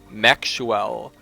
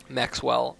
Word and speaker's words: Maxuel: And then his ally, spawning as the white dwarves here, it is going to be Maxuel. Maxwell. I guess it's Maxwell. It's really like Maxuel, but I'm just going